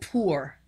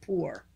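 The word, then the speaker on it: πῦρ: all right the greek word fire is called poor that's the pronunciation of it poor but it means lightning fiery fire we know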